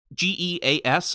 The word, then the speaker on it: geas: My assumption is I believe there is a spell in D&D that's called g e a s. I'm not 100% sure about the pronunciation. I think it's geas, which is like a